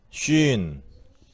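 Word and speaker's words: שׁין: 자, 쉰. 쉰. 무슨 뜻이에요? 이. 예. 자, 신. 근데 점이 위치에 따라서 쉰으로 발음되고, 신으로 돼요.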